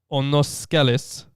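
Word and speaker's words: Onoskelis: wow what's your name onoscolaser it's spelled o-n-o-s-k that's that's uh i mean the the greek is onoskeles so that's what i'm going with um i now asked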